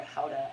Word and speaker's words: Gouda: I put a spice, a smoked Gouda or Howda, as they pronounce it, and I put that in, and it was a tight swirl.